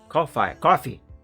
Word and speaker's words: Ko-fi: Oh, I have a new follower on Ko-fi. Coffee. That's how you pronounce it right.